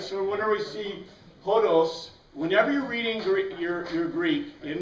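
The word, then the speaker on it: ὁδός: But hodos. And this, we usually say team hodos.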